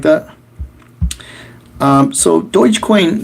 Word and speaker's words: Dogecoin: very few people say it the correct way dogecoin cryptocurrency that was created as a joke is